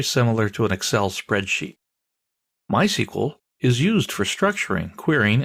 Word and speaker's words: MySQL: that in a minute people in the know don't say MySQL they say my sequel that's generally how it's